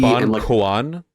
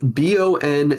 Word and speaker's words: Bonchon: Is it Bon Quan? Like CUO? No, it's spelled BONCHON. Bonchon. This is not a hot